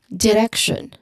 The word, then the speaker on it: direction: So don't, you know, overemphasize the letter E sound because you might not clearly pronounce a short E sound in the second syllable like direction. That you shouldn't, you know, overly emphasize with that one. It should be direction.